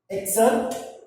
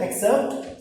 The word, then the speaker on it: excerpt: Excerpt, focus on the pronunciation as well. Excerpt, E-X-C-E-R-P-T, excerpt, a short part taken from a book.